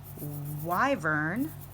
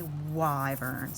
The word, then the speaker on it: wyvern: mispronouncing the word and it is wyvern not quiver nor river nor why reburn but definitely why burns so that's what we're